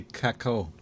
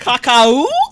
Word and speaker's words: cacao: Creme de caco. Caco. No. X, you're not helping. No, you're not. Cacao? Oh boy. Okay. Cacao. Kim said, thank you. Cacao. I said it right.